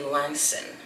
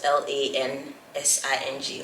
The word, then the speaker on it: Lansing: of Michigan is actually Langston that's spelled l-a-n-s-i-n-g Lansing when I think of